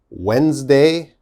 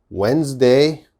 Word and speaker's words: Wednesday: one's a little difficult wednesday wednesday okay what's the problem now wednesday has a d but when we say wednesday we don't say the d sound we don't say wed